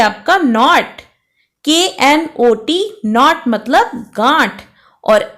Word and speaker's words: knot: Next है आपका नॉट, KNOT नॉट मतलब गांठ और NOT नॉट, नॉट मतलब नहीं।